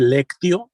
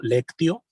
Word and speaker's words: lectio: Se escribe lectio, L-E-C-T Tomás y O, lectio divina, así como se escucha.